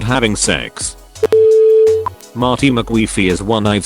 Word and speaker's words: CEX: Unprotected CEX at a used electronics / games retailer whose name is pronounced as sex.